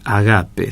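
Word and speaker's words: ἀγάπη: que dios es ágape en griego se dice ágape se acentúa en la segunda sílaba y significa que dios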